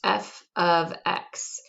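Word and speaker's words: f(x): thing here is pronounced f of x and i know it looks exactly like f times x with those parentheses there but what it actually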